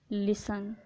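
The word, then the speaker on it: listen: किसी वर्ड के लास्ट में टी ई एन हो तो टी साइलेंट होगा। For example लिसन।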